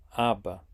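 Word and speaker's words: אבא: letra do hebraico Beto e se pronuncia Aba Pai bom já sabemos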